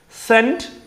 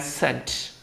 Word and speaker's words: sent: Sent and sent. The pronunciation is T.